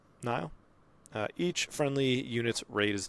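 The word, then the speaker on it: Nihil: We got Martian Row, 6 cost ground unit, cunning, villainy, 6 attack, 7 health, underworld, Nile? Is that how you say it? Neil? Yeah, no. Nile.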